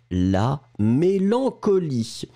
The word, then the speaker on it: mélancolie: Le E final est bien sûr muet, la mélancolie.